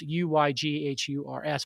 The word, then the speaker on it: Uyghurs: million are uyghurs uh which is spelled u y g h u r s but pronounced uyghurs which is a muslim